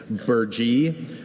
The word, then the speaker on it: burgee: Burgee, that's the only pronunciation.